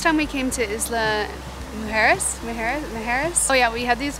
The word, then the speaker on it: Mujeres: We are here and raring to go for our sailing trip and snorkeling to Isla Majuras, because apparently I've been saying it wrong this whole time. Majuras, it's Mujeres.